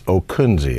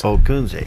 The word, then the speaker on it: Ockunzzi: right no give us the proper pronunciation the pronunciation is okuni it's okuni three syllables okay now you being a pilot you might remember by Oscar charlie kilo uniform November Zulu Zulu India well there we go okuni there you go and he has got signs